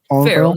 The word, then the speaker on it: Farrell: Farrell, yeah.